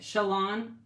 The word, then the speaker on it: Shalon: Pronounce like the word salon, but with a sh. Okay, Shalon.